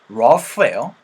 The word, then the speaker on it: rough: 않은이라고 할 때도 이것도 rough예요. Rough. 자, 그러면은 tough도 마찬가지입니다. Tough. 이런 것들 GH로 끝나는 발음들에서 여러분들 F 사운드를 좀 만들어 주셔야 되는 것까지 같이 기억할 수 있었으면 좋겠어요.